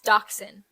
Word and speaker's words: dachshund: dachshund you said dachshund yeah it's dachshund where's the X that's just how you pronounce where is the X